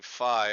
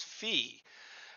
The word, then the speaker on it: Phi: I had been pronouncing fi all along but um a AI bot recently educated me that the correct pronunciation the Greek way to pronounce it is fee and so uh it